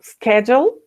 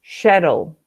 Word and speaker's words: schedule: You can say schedule if you want to make it American or Canadian. But if you go to Europe, maybe in Australia also, you say shuttle.